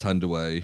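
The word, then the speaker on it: Thandiwe: Yeah, it's spelled Tanduay, but it's like, it is pronounced Tanduay.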